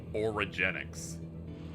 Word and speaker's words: Origenics: I try to pronounce the place like a combo of origin and eugenics. Origenics.